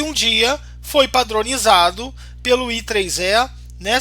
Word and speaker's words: IEEE: Até que um dia foi padronizado pelo I3E, né? Se pronuncia IEEE ou I3E, pelo I3E, esse padrão de USB que a gente utiliza hoje.